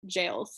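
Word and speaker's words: gaol: sounds like g-a-o-l yeah i think it's technically pronounced jails yeah we were being annoying when we were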